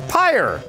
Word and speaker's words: Pyre: whoa crazy somebody says pronounced like pyre Greg cassavin's game is Empire it's again it's pyre pyre that sounds like one syllable to me per a pear you